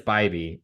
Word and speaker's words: Bybee: It's always the I would have gone Bibby. Is it Bybee? Bibby? I'm certain it's Bybee.